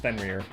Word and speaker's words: Fenrir: So it's officially pronounced Fenrir.